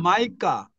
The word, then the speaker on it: Micah: 요나, Jonah, 그다음 Jonah, 마이카, Micah, 마이카, 미가를 마이카라 Micah, 그러고 그다음에 나훔, 나훔, Nahum, 하박국, 하박국, Habakkuk, 제프나야, 제퍼나야, Zephaniah, 예, Zephaniah, 제프나야, 제퍼나야, Zephaniah, 예, 맞아요.